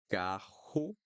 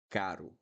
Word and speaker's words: carro: So, carro, caro, carro, caro. Carro caro is an expensive car.